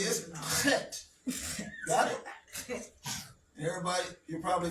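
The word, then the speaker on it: ח: Now, how many of you can pronounce the chet? Try it. Act like you're hacking. You know, like when you want to spit and you want to, you know? All right? That's guttural.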